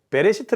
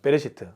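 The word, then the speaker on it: בראשית: 히브리어 로 는 " 베레시트 " 라고 읽습니다 . 베레시트 .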